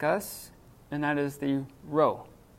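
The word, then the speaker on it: ρ: Here's another one that's going to be tricky for English speakers like us, and that is the rho. It looks like a P, but it's an R sound.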